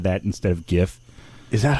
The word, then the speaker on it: GIF: anyway they decided that it's gif not jif because it's a you know a hard g well it doesn't matter